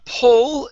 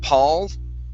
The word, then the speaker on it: pull: did pretty good uh pull is a hard one for you okay you tend to use an sound saying Paul and a okay so this